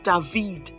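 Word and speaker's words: דוד: So the first one, consonant David. So as you notice, I pronounced the Vav.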